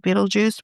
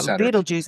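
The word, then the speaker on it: Betelgeuse: After combining uh data from direct observations of Beetlejuice with advanced computer models that simulate the stars activity, the team concluded that Beetle Buddy is by far the most likely explanation.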